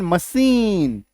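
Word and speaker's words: machine: एम ए सी एच आई एन मशीन सी एच ई F safe C एच ए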